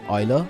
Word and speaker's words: Euler: So it's pronounced, as a friend of mine always says, it's pronounced Euler, not Euler, making contributions in multiple fields of mathematics, from calculus and geometry to mechanics and number theory and many more.